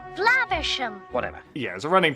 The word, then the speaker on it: Flaversham: Not for long, Miss Flamhammer. Flaversham. Whatever. Yeah, there's a running joke about Basil mispronouncing the last name Flaversham.